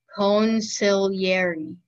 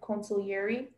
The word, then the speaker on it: consigliere: Consigliere. Can I have all the information? Sure. The word can be pronounced consigliere or consigliere. It's consigliere and consiglieri.